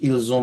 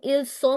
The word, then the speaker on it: ils ont: And also one very nice thing, Julien, you very nicely and accurately said ils ont mangé instead of saying ils sont mangé. I still hear a lot of students saying ils sont, and that sound is not correct phonetically.